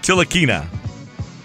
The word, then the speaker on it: Ntilikina: Frank Ntilikina is his name. I know why James Dolan did this. Not quite, but it was close. What? Ntilikina? Tilikina. Ntilikina? Oh, the N is silent.